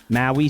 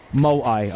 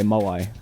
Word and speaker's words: Moai: And that was when I got the Maui statue. Maui. Mawa. I don't know how to pronounce that, but I fucking love that there.